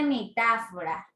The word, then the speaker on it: metáfora: Escuchamos bien, dice metáfora. Escuchen ¿cuántos golpes de voz tiene metáfora? Así es. Tiene 4 fuerzas de golpe. Quiere decir que tiene 4 sílabas.